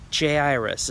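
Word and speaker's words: Jairus: one is a ruler by the name of Jay iris is one way I've heard it pronounced so we'll go with Jay iris and he's a ruler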